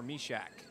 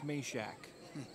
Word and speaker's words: Meshak: Check that rather, he just plays it ahead here for Mishak. I apologize, I keep saying Mishak, it's Meshak. Some of these names don't come a little easy for us to pronounce over here.